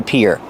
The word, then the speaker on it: pier: And the pronunciation is like ear and hear.